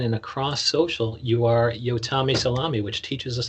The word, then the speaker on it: Yotam: You are Yotami Salami, which teaches us how to pronounce your name. That is exactly right. It's my little trick. Yes, It and doesn't rhyme Yotam. with ham, it rhymes with salami.